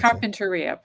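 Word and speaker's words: Carpinteria: have to let's see Carpenteria California world or Carpenteria Carpenteria that's how we pronounce Carpenteria pardon me California world's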